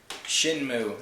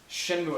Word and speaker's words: Shenmue: Shenmue. Is that how you pronounce it? Shenmue, I think.